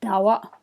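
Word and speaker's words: ཟླ་བ: So the moon, if you read it, it's got two exceptions, one in the first syllable, one in the second syllable. That's dawa, dawa.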